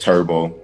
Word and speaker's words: TurbSkee: this okay uh so my clothing line is pronounced turbo you know my name